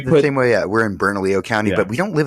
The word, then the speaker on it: Bernalillo: Because you the same way, we're in Bernalillo County, but we don't live in Bernalillo.